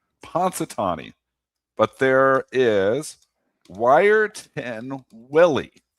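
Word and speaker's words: Punxsutawney: pon how do you say that town ponatani ponatani but there is wirein willy Willie we have in Canada and Willie actually predicted an early spring so he totally went against pansi ponatani Yeah, totally against him.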